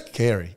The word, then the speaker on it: Carey: Corey, I think. Carey. It's Carey, yeah.